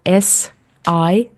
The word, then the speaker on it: Sisu: So, Sisu, to those who are totally new with the word and with the concept, it's 4 letters. It's spelled SISU, so it's Sisu.